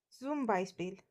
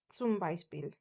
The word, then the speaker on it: zum Beispiel: It has the sound of T and S, which is sa.